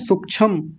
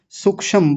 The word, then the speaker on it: सूक्ष्म: कई तो सूक्ष्म सूक्षम ऐसा करते रहते हैं। यानी बड़ा उ है उसको छोटा बना देते हैं। क्ष बना देते हैं। पूरा म है उसका हलंत कर देते हैं। पूरे शब्द को बिगाड़ के रखा हुआ है हमारे समाज ने। सूक्ष्म बड़ा सूक्ष्म है। जी ये सूक्ष्म सूक्ष्म सूक्ष्म गलत है। सूक्ष्म नहीं सूक्ष्म। म को पूरा रखेंगे सबसे पहले तो सूक्ष्म